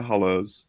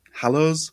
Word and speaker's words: Hollows: Read the Hollows. Hallows. Hollows. Hos. Hoss. And I want to make sure I'm pronouncing it right. I know it's Hollows, but you but I was like, did she say hollows?